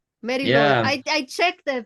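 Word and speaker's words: Mari Lwyd: The Mariloid. That's how you pronounce. Yeah. The W is being pronounced as as a oo kind of sound.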